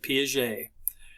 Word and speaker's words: Piaget: a cognitive psychologist was piaget that's how you pronounce this name piaget and um he was interested he basically because